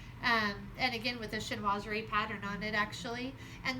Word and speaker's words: chinoiserie: And again, with a chinoiserie pattern on it, actually.